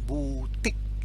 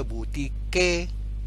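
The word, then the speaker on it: boutique: Q-U-E dalam bahasa Perancis keluar satu bunyi, bunyi K. Jangan baca butik, bukan. Dia bunyinya seakan-akan B-O-U-T-I-K, butik, ya.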